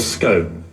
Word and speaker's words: scone: It's called a scone, or if you're really pretentious, you can call it a scone. Okay. Which is what people who think they're members of the royal family or ought to be call them scones.